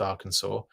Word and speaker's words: Arkansas: pronounced AR Arkansas yes I know it's actually pronounced Arkansas I do like to